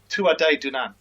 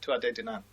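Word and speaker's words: Tuatha Dé Danann: the D the D if you want to pronounce it properly it's Tu dunan that's how you'd say in gay Tu dunan very good I'm impressed but it basically means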